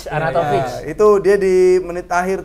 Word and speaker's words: Arnautovic: Oh, dia Amau itu R sama N-nya M dia. Amautovic. Oh iya, aku bacanya M. Amautovic. Arnautovic.